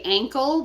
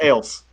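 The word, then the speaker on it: Acle: alpha charlie lima echo it makes me want to say ankle but i know it's actually it's ales you guys put the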